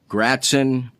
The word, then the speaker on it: Gratzon: Today's guest, speaking of easily, and I've had to track this fine young man down, Fred Gratzon. Did I pronounce that correctly?